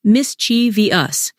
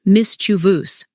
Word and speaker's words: mischievous: are also frequent words like mischievous are often pronounced mischi V us instead of the correct Mis chuus don't forget spelling mistakes words like definitely are